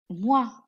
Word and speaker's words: moi: Moi. Moi. OI is pronounced as wa, wa. Along with M, it is moi, moi.